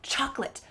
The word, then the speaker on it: chocolate: So you just cut out the middle. Chocolate, chocolate. I don't have time to ask for chocolate. Instead, chocolate, chocolate.